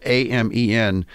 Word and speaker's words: Amen: Daniel, and I never know if I have his name pronounced properly. It's actually spelled A-M-E-N. So I don't know if it's Amen or I think it's Amen, Dr.